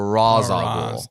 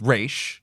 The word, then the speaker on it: Ra's: is talking to Terry she says basically says something it's race not Raz common misconception right so it's race so from that alone